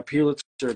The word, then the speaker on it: Pulitzer: But I think, yeah, Pulitzer just says literally pew in it, which is funny.